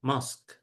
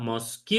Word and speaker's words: mosque: itu dibacanya ya Teh Riana ini saja mosk gitu. Cara bacanya gini jadi tidak dibaca mosque tetapi mosk. When you enter the mosk itu nomor satu.